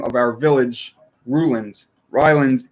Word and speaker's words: Ryland: Ryland is the pronunciation according to the local dialect.